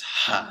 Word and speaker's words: ح: The second letter is Ha, and this is the sound you make after you eat spicy food. It's Ha, so here's ha, ha, ha, and appropriately the word har means hot.